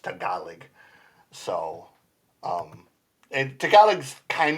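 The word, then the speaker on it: Tagalog: They actually they actually say tealog. And it's not tealog. It's actually pronounced tealig.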